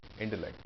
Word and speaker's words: intellect: I agree that he has superior intellect. The stress is on lect. Intellect. Superior, stress is here.